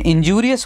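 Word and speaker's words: injurious: तो बहुत से लोग इसको इंजूरी प्रोनाउंस करते हैं, इंजरी है लेकिन इंजूरियस होता है वो ज़रूर ज्यूरी के तौर पे प्रोनाउंस होता है, इस चीज़ का ध्यान रखिएगा।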